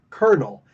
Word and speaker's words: kernel: Listen to how it's pronounced, pronounce it, kernel, and then look at how it's spelled.